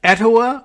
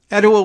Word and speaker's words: Etowah: oh uh at any rate this is at etowah high school i hope i'm pronouncing it correctly e-t-o-w-a-h uh nearly 300 students